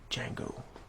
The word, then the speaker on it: Django: is your name mmm Django can you spell it d.j a and g.o.d silent I know guys that's